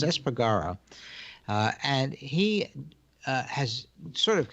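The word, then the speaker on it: Espargaró: that Paul Esper Gorham I think I've been mispronouncing his name previously as this part as far go but it's s pagará and he has sort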